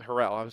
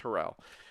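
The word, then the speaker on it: Harrell: And they trusted Harold to do Herel. I always pronounce his name wrong. It's Herell.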